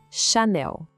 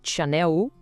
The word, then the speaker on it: Chanel: O segredo aqui tá todo na sílaba final, não é para falar Chanel, como se fosse em inglês, tá? O foco é total no Nel. O som do L é bem marcado e a força da palavra tá ali.